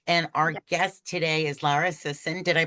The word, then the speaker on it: Lara Sison: Hampton and my partner Erica Silvers and our guest today is Lara Sison. Did I pronounce that correctly?